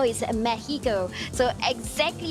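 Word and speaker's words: México: the city of Mexico and yes you don't pronounce it as Mexico is Mexico so exactly how you pronounce all the cities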